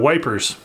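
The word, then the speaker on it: Ypres: an army eep 1914 or as uh as the british said the the brits used to say back then wipers but i think eep is the proper pronunciation anyway death of an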